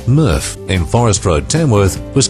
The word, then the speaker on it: MRF: current material recovery facility mrf pronounced murf in Forest Road Tamworth